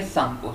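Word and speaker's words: Tsangpo: When it flow through the Himalaya, it's called सांगपो, ठीक है। यहाँ पर टी साइलेंट होगा, इनका हम लोग प्रोनाउंसिएशन करेंगे सांगपो से, ठीक है।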